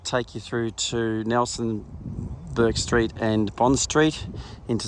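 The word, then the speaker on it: Bourke: So 8 Burke Street, and Burke Street is spelled B-O-U-R-K-E.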